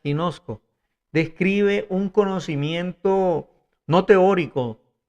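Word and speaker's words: γινώσκω: Y la palabra informarme viene del griego que se pronuncia ginosco.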